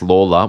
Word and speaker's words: Lalor: James writes in and says, Peter Lalors, pronounced Lawler, was an important figure